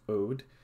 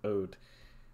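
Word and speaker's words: Aude: And I will also note this: people might note that this department here, which is, I believe, pronounced Ode, has switched heavily from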